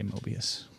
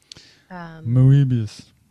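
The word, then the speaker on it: Moebius: comics with momo abias i'll probably should just say Mobius rather than try to pronounce it the way they didn't moobus yeah into the woods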